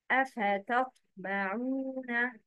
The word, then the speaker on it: أَفَتَطْمَعُونَ: And T is pronounced heavily, مفخخ, it's T. The correct pronunciation is, please repeat after me, أَفَتَطْمَعُونَ.